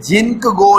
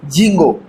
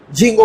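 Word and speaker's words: Ginkgo: ये जिंक गो नहीं पढ़ना, के साइलेंट है, जिंगो, जिंगो पढ़ लोगे।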